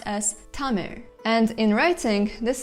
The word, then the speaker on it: Tamil: last most interesting sound, which you pronounce almost the same as the l, with your tongue curling up, but without actually touching the roof of the mouth, to get r, something similar to the English r.